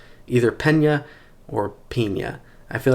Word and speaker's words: Peña: not so little knife this is the pina or pena i think you're supposed to say pena yeah pena enrique pena